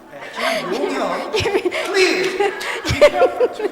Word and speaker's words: 김용현: 김용현. Not 김영현. 김용현. Please. Be careful to pronounce his name, okay?